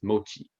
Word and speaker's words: mochi: So yeah, and it's Now, mochi, right?